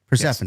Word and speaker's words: Persephone: Well, it's pronounced Hazuki. Hazuki, okay. Yeah. I got Persephone right, though. Persephone, yes.